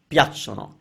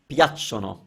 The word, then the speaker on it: piacciono: I'm not going to say how a lot of people are mispronouncing it because I don't want you to hear it, but it's piacciono. So we're stressing the piacciono, piacciono.